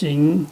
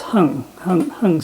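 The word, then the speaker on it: 行: And then actually the pinyin here is not right, but normally it's pronounced Xing and then Xing Sen Bo Ro Mi Do Shi, but it's actually, I guess, supposed to be pronounced Heng Sen Bo Ro Mi Do Shi.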